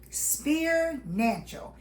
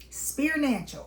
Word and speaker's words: Spirnancial: Spear-nancial. It's pronounced S P E A R, like a spear, then nancial at the end of financial.